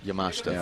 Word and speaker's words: Yamashita: hanano and uh Yamashita is that how you pronounce yamashta yamashta thank you that was the name